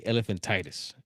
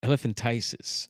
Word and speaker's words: elephantiasis: I used to say elephantitis. Elephantiasis, I believe it's pronounced, of the feet.